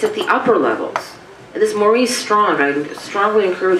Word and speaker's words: Maurice: on and I think because he's Canadian is probably pronounced Morris but Maurice is how I pron anounce it being American